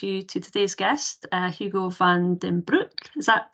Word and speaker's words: Hugo van den Broek: like to introduce you to today's guest uh Hugo Van Damme Brook is that pronounced correct yeah uh Hugo is a former